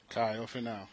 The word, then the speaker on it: Kaio Finau: Kaio Finau, yes, sir.